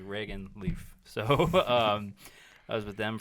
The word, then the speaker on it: Reagan Leaf: It's all, yeah, everyone, it's, yeah, like Reagan Leaf.